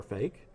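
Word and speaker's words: FAIK: It's called Fake. It's spelled F-A-I-K because it's fake and there's AI in the middle.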